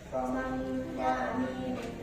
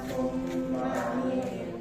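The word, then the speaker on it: ثَمَّ أمين: Sama amin hati-hati sama amin bukan summa amin terdapat di surah 81 At-Takwir ayat 21 juz 30.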